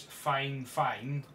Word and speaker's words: FIFINE: video this time we are looking at the five fine or the way they pronounce it is fine fine it's a um streaming microphone on Amazon it's